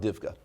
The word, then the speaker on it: DIVCA: We call it DIVCA. You can pronounce that one.